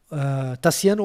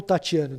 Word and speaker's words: Taciano: Taciano ou Tatiano, depende de como você pronuncia o TI no latim, né? Tatiano é mais brasileiro.